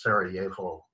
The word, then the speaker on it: Sarajevo: 100 pronounced pronunciation so if you're in eastern europe it's a it's a it's a y sound so it's sarajevo um in fact hugo